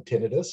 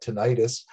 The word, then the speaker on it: tinnitus: going to be doing a talk on tinnitus and he said well I call it tinnitus who's right and I said well the answer is both of us are because both are completely acceptable pronunciations uh of the of this of this symptom that lots and lots